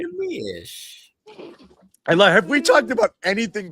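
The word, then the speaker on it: Neemias: But I remember that extra little kind of Nemi-ish, that extra syllable in there.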